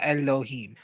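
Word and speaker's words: אֱלֹהִים: This is the E like in Met. All right. Right. You got your That's right. you got your three bases. So think of the Mets. And Okay. so it would be Lo. him. Yeah, Elohim. Okay.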